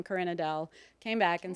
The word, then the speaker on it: Karin-Adele: It's like Yeah, I was like, I know you're not Karen. I No. know you're not a Karen.